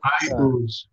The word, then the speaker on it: Iuz: Iuz. Iuz, okay. I have an open boil and I now ooze. Iuz. I think. Ah. He's an Iuz. As if it were the letter I and then O-O-Z-E.